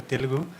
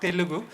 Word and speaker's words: Telugu: in telu format not Telugu format so we still use arasa that is that is the way should telu should be pronounced telu not Telugu but that corruption has